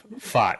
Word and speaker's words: Pfaadt: But I call him Fart because it sounds like, but it's Fart, yeah.